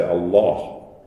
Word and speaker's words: Allah: And it's interesting that the way this is pronounced in Arabic, the L is darkened, and people say Allah, which has the effect of changing the colour of this vowel as well. It's the only L in Arabic that stands by itself that has that dark pronunciation.